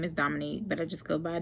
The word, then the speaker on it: Dominique: Like, they always add an extra O in there, like Dominique, and it's Dominique, like French. Like, think of how French people say Dominique. Like, Dominique is how you say it.